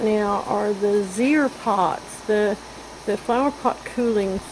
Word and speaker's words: Zeer: what I'm showing you right now are the Zeer pots, the flower pot cooling system that I made up this year to use.